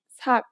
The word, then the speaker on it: 삭: In this case, the letter, which is usually an S sound, becomes a T sound.